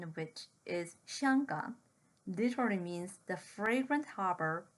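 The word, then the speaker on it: 香港: The name of Hong Kong, the Mandarin pronunciation of which is Xianggang, literally means the fragrant harbor or the incense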